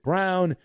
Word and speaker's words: Braun: Kansas named Christian Brown although it looks like his name is spelled Brawn but the family pronounces it brown I think it would sound cooler if it was Christian Braun but they go with brown he was seven of